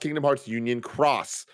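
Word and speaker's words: Kingdom Hearts Union χ: some that i respect it's pronounced kingdom hearts union cross kingdom hearts key is a different older game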